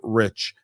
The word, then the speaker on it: Reich: correct yes you did the E is silent it's the only part